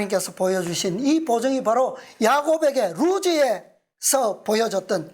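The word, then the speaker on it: לוז: 본래의 이름이 루스 루즈이 히브리어 발음으로는 루즈에 어떻게 쓰냐 하면 요렇게 해서 중간에 와서 요렇게 이게 라메드 라메드 라메드 그다음에 바브 바브 그다음에 자인 요게 루즈에 루즈 루즈에 라메드 라메드 막대기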